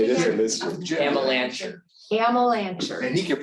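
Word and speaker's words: Amelanchier: Amalancher. Amalancher. And he can pronounce it too.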